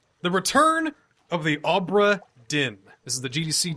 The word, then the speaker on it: Obra: The hint he gives is that Obra rhymes with Cobra.